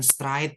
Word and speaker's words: straight: berarti rambut keriting kemudian bukan Straight ya bacanya Straight Straight Straight hair jh-nya enggak usah dibaca ya jadi langsung ke t aja ya straight Straight hair rambut